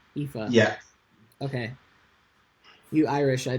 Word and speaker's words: Aoife: Aoife. So I should just pretend that A and O is an E. Aoife.